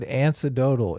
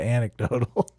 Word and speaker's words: anecdotal: of my youtube career I said antidotal instead of anecdotal I did I did